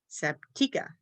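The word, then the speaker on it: Sabtechah: your Bible study people, go in there and pronounce that name correctly the first time. Honestly, you probably won't know the difference, but it is, according to the audio Bible, Sabtika.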